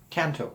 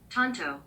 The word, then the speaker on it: Tanto: of lost it there so the American pronunciation here showing kind of like the Lone Rangers companion tanto one Tanto go again